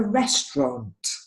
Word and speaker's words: restaurant: this word as well it's not rest around or any of those kinds of things it's a restaurant restaurant it almost just has two syllables restaurant okay this word